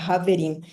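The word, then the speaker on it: חברים: Argentina, escreveriam com J, porque no hebraico é pronunciado como se fosse um H forte, quase um R, né? Haverim.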